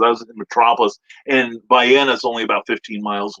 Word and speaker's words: Vienna: germany uh or vienna sausage but it is pronounced by anna and i pronounced it wrong one time and i caught hell the whole weekend for it i really did because i was in metropolis and bayenna is only about 15 miles away and then